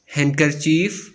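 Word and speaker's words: handkerchief: Silent D, डी इज not pronounce in the following common words: हैंडकरचीफ, sandwich, Wednesday. इन अल्फाज में D pronounce नहीं होता।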